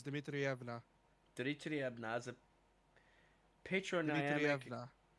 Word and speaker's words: Dmitrievna: Dimitrievna is a patronymic. No, you mispronounced it. It's Dmitrievna.